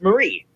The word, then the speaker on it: Marie: because Princess Mary Louise Mary is pronounced Mary and then for Marie it's pronounced Marie so um but I